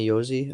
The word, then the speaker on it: Josi: offensively, but I'm a really huge fan of Josi. Roman Josi, is that how you pronounce his name?